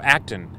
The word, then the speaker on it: Acton: Oh, Acton. It looks like it's spelled action, but it's without the I.